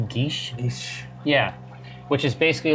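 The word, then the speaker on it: geas: a spell I always thought it was called gayest but I think it's actually pronounced guiche he's yeah which is basically like a magical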